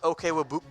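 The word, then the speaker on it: Okwuegbunam: Albert O, if you want to know how to pronounce his name, it's Albert Okwebunam.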